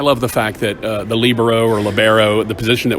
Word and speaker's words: libero: And there the accent is on the first syllable, lib. So that's why the world calls it libero.